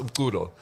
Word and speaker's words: Umculo: All right, so it's pronounced Umculo, and in Zulu and Xhosa, it means music.